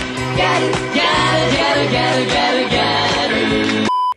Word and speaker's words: Gyaru: So basically, the word Gyaru is the Japanese pronunciation of the word gal, used to refer to a young girl or woman.